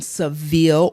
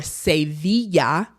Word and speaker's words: Sevilla: So we lived in Seville or Sevilla, Spain. Remember how we are doing pronunciations, English and Spanish.